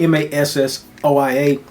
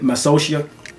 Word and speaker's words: Massoia: It's spelled Massoia. So I'm saying it massocia or massoia. It may be either one. I haven't heard it spoken, but I trying to phonetically break it down. It sounds like massoia.